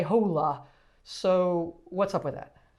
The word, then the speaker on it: hola: and you didn't say hola so what's up with that so the h is silent uh you kind of just pretend it's not there so you would just say hola hola say one more